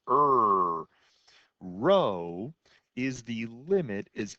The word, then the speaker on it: rho: but it's the greek letter rho and it's pronounced er rho is the limit as n approaches infinity of